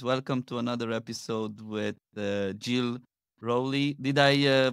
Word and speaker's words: Jill Rowley: Welcome to another episode with Jill Rowley. Did I pronounce it well?